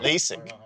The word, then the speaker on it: LASIK: Lazic?